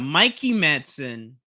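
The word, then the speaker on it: Mikey Madison: We got Mikey Manson. I had double checked how you say her name, but she said Mikey Manson in the Criterion Closet.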